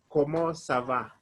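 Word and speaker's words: comment ça va: how are you how are you you say como sava let me spell the words como sava como sava the word the ones are c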